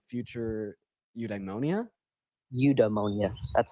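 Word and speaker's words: eudaimonia: Udemonia, that's how you say it.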